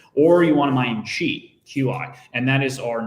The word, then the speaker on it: Qi: So QUI or QI, like you said, it's actually pronounced QUI, and it is an